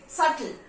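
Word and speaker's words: subtle: यहां पे नहीं, सटल, सटल, date, B pronounce नहीं होगा, डेट. डाउट, डाउट नहीं, डेप्ट नहीं होता है, डेप्ट नहीं होता है, date, date, B इज not pronounce.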